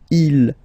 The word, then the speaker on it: ils: Okay, so you can notice that even if you've got this S at the end, and then here you don't have anything, well, you pronounce them the same way.